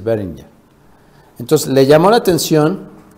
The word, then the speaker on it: Behringer: de la marca beringer si se pronuncia Así es beringer Entonces le llamó la